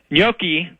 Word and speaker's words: Gnocchi: Okay, well, best of luck to Noki. Except in one way. Gnocchi, that's the more proper Italian pronunciation Gnocchi of the name, has a habit of